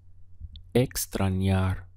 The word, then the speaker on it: extrañar: miss in Spanish is Extron yar we have three syllables x-brawn yar this n sounds like yeah yeah extra yard if we want to